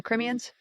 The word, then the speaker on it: Crimean: The Crimeans? Crimean. Crimean Tatars. That's literally how it's said.